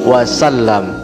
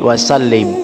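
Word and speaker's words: وسلم: lafaznyaahua Muhammad Sallallahu Alaihi Wasallam ya Sallallahu ala Muhammad Sallallahu Alaihi Wasallam Jangan sampai salah ya Biasanya kita membacanya Sallallahu ala Muhammad Sallallahu Alaihi wasallim jadi yang benar wasallam oke yang artinya Semoga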